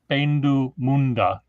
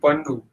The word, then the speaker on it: Pendu Munda: So how do I pronounce Pendu Munda? Yeah, now you got it right, but before that you were saying Pandu.